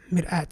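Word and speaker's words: مرآة: So we have mir'at, sah. So that basically means mir, hamza, alif, and ta marbut.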